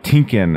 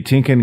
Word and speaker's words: TYNKYN: I think that's right tinkin I believe us how it's pronounced so let's get to